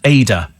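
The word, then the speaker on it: Adur: hello there you go the river adir is pronounced ada it's a beautiful area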